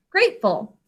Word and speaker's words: grateful: 2 syllables. What are the sounds you hear in grateful? G, R, A, T. 4 sounds. A says its name because of a silent final E, job 1. Great. And our last syllable, what do you hear? Ol. Grateful. 3 sounds. There's just one ol at the end of it when we have full as a suffix.